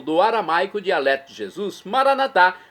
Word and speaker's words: maranatá: E agora eu clamo do aramaico, dialeto de Jesus, maranatá, como dizemos nós católicos, ou maranata, como dizem nossos irmãos separados das comunidades evangélicas ou protestantes. Não importa a pronúncia, o significado é o mesmo.